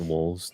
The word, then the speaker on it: Wohlvs: that you're looking at like wolves like it's that's my my social of everything Twitter Instagram uh everything YouTube and you spell that w o h l v s yeah I had to